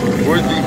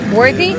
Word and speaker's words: Worthley: Worthley pond. Worthy?